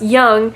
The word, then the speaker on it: Jung: Let's talk about this Carl Jung guy because his name would suggest he is dependent on others. I get it, because it's actually pronounced young, and that's part of Adler's theory.